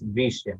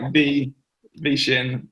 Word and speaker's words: Veshin: sorry about the pronunciation so it's veeshim right so yeah it's like vegan and then shin is um a chinese word that means heart so it's like v v shin which is vegan heart okay perfect that's